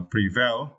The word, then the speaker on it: prevail: you the word uh Prevail it is verb and you can see the phonics like this right Prevail okay you need to stress the second syllable the second syllable right prevail okay and let's see